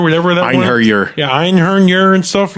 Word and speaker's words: Einherjer: Anal Noth Rock and Ernheiner, whatever that one. Einherjer.